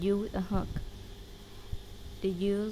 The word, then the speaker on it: ư: To pronounce this letter, you smile like you do when you say E, but don't say E, try to say U.